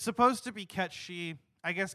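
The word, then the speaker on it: Cait Sith: they're pretty close it's it's supposed to be cat she I guess Kate Sith is fine Al technically that's the official pronunciation now and like I said that's how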